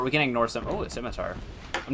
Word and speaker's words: scimitar: When I uh first played D and D, my friend who was DMing didn't uh pronounce the word scimitar correctly. Yeah. And they said sycamore.